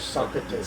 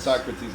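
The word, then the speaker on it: Sócrates: How do you pronounce? Okay. Socrates in Spanish. Socrates. Socrates in English.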